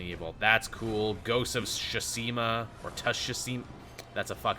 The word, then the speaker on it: Tsushima: The T is silent. Ghost of Tsushima.